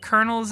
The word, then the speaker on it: colonel: times you like these is it kernels as in k-e-r-n or well that's how it's spelled on the screen but i'm confused whenever